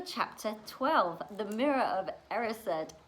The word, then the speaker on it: Erised: 12, The Mirror of Erised, which last time I was kind of like, oh, how do I pronounce that? So I watched the movie again and we have now got The Mirror of Erised.